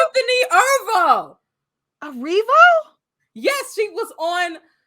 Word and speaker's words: Erivo: Because it is ERIVO. Yes. Oh my God, it's not Erivo, it's Arrivo. Arrivo. Or did he just say it wrong?